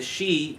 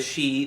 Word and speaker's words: Sidhe: Pronounced she, like Samhain is really pronounced Samhain for you Halloween fans. Gaelic's a strange language. They relate them to the Tuatha Dé Danann and then claim that the she were once gods.